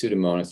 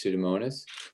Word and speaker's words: Pseudomonas: the word pseudo, and then monas is spelled pretty much like it sounds. I think it's M-O-N-A-S, Pseudomonas.